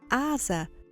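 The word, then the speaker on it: עזה: Meu nome é e a palavra hebraica de hoje é Asa, que é pronunciada na maioria dos idiomas Gaza.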